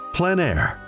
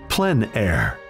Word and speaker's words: plein air: of outdoor painting, called plein air. The French coined the term, which means open air or outdoors. The French pronounce it plein air. Others say plein air.